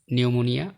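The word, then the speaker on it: pneumonia: শব্দের শুরুতে পিএস বা পিএন থাকলে এন অনুচ্চারিত থাকে, যেমন নিউমোনিয়া, সিউডোনিম, সাইকিয়াট্রিস্ট, সাম, খর্স, কু, কাবার্ড, রাসবেরি, রিসিট।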